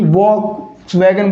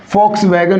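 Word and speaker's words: Volkswagen: तो वैसे तो इसका उच्चारण वह होना चाहिए, यानी कि वॉक्स वैगन बोलना चाहिए, लेकिन यहाँ पर वी का उच्चारण क्या होगा साथियों, एफ होगा। क्या होगा, फे होगा, यानी कि वी का उच्चारण क्या होगा, फे होगा। तो इसका करेक्ट प्रोनाउंसिएशन क्या होगा मेरे साथियों, फॉक्स वैगन होगा।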